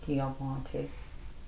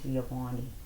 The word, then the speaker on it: Giovanni: But God said, "Get a backbone, Giovante. I'm saying it wrong." Giovani.